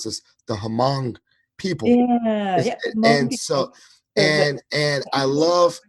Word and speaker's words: Hmong: And so it's Hmong. It's the H is silent, so you can just yeah,